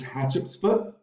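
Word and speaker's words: Hatshepsut: I will want you to know how to pronounce her name it's hatch UPS foot hat Chups foot read this super interesting story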